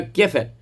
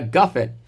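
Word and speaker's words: גפן: The common custom of Sephardic Jews to pronounce over the wine as bore priya gefen. Although there are some that pronounce it as bore priya gafen, everyone should maintain his family custom, it's saying here.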